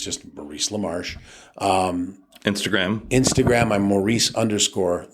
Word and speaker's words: LaMarche: It's just Maurice Lamarsh. Um Instagram. Instagram. I'm Maurice Lamar. Lamar is spelled L M A R C H E. Uh I don't tweet that much, but it's Maurice Lamar all one word.